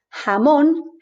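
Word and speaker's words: jamón: gothron in this case the letter is called hota and it's always pronounced like this we can see it in the word jamon which will make us think instantly of ham hamon ham ka is not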